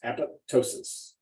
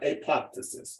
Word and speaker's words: apoptosis: of them apoptosis apoptosis apoptosis learn to pronounce it that way apoptosis two words apoptosis and not apoptysis apoptosis means program cell